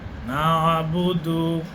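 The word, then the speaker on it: نَعْبُدُ: জবর এটাকে আপনাকে মিলিয়ে পড়তে হবে এজন্য দুইবার উচ্চারণ আপনাকে করতে হবে ইয়াকা নাবুদু ইয়াকা নাবুদু ইয়াকা নাবুদু নয় নুনের সাথে আইন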